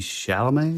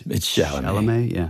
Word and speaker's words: Chalamet: I think that Timothy Chalamet, is that how you say it? Or Chalamet, but I think it's Chalamet.